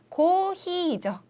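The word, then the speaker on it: コーヒー: 네, 제대로 발음하시는 분들이 그렇게 많지 않은데 커피는 고히이죠. 길게 둘 다 장음이 들어가서 네, 고히요 몇 잔이요?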